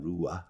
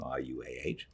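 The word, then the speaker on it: Ruah: name is danny or daniela rua i think is how you pronounce the name rua she was just adorable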